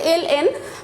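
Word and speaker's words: ln: 4-এর 4, limit x tends to infinity এই এল এন, এটাকে আমরা সবসময় লন পড়ে এসেছি, আমরা লন বলতেই অভ্যস্ত, কিন্তু এর আসল উচ্চারণ হচ্ছে এল এন, তো আমরা লনই বলবো, যেহেতু তোমরা লন বলেই অভ্যস্ত।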